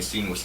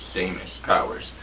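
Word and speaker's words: Seamus Power: him pronounce his name we've been saying sceneless the whole time it's samus powers same as powers um don't do me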